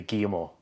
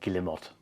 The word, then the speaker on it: Guillemot: or Spain it'll be guimo uh if you're from Central Europe or from the English-speaking Nations it's more like gilimot because you pronounce every single syllable you've been skipper for